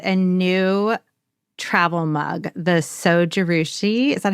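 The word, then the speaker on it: Zojirushi: The Sojarushi.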